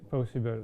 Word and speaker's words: PowSyBl: On a broad level, what do you see as the most important differences between also how do you pronounce it? PowSyBl? It's the same way, PowSyBl.